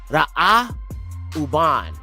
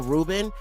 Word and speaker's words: Reuben: 32 and la conceived and bore a son to Jacob and she called his name Ra uban. Okay, that's how his name is pronounced. Who you call Reuben is Ra uban.